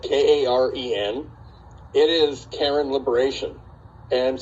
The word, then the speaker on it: Karen: that's their pronunciation if you saw it because it's spelled k-a-r-e-n it is karen liberation and so that means